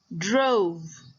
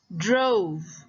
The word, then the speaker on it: drove: Another example is drove. Drove. Okay, again, the E in the end doesn't make a sound, but O will say its name.